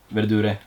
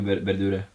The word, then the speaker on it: verdure: Verdure. Yeah, it's In cheap. Italian, you so- pronounce the E. Yeah. Oh, okay. Yeah, so yeah, I guess Verdure is my favorite.